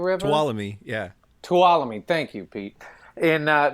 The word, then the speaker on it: Tuolumne: of it is i don't know how you pronounce it as the tolume river swallow yeah tuolumne thank you pete in uh near yosemite right